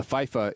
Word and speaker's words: FIFA: Yeah, FIFA. That's the right way to say it.